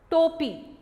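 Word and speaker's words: टोपी: Third picture is cap, topi, toe. When we add o symbol, it pronounced toe, ta plus o symbol, toe, topi.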